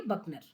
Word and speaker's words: Buchner: Spelling है BUCHNER, आप इसे बोलेंगे बकनर।